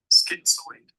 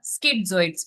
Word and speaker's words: schizoid: Let's see how to pronounce it. Schizoid. Schizoids. We call it Schizoid. schizoids. The word here, schizoids, paranoid schizoids.